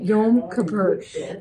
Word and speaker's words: Yom Kippur: Yom Kippur.